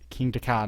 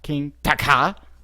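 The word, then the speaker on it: Kingda Ka: I could tell you it's King Daka, not King Daka.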